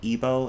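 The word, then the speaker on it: Igbo: it's a west african language called ebo it's spelled let me spell in the chat i gbo that's my heritage language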